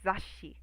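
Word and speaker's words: 雑誌: So it's almost like, it takes up a beat.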